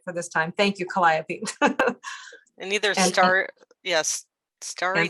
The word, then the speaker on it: Calliope: got it right for this time thank you calliope and either star yes starry night or starry